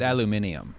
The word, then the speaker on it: aluminium: They pronounce it aluminium.